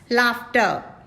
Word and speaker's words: laughter: r is again silent laughter laughter laughter r is silent r is again silent